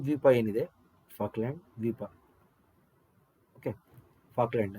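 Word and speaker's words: Falkland: ಏನಿದೆ ಫಾಕ್ಲ್ಯಾಂಡ್ ದ್ವೀಪ okay ಫಾಕ್ಲ್ಯಾಂಡ್ ಅಂತ ಹೇಳಿ ಉಚ್ಚಾರಣೆ ಮಾಡಬೇಕು ಅದನ್ನ ಓಕೆ ಈ ದ್ವೀಪ ಏನಿದೆ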